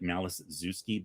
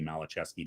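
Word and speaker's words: Maliszewski: It looks like Malazewski, but I think technically it would be Malachevsky.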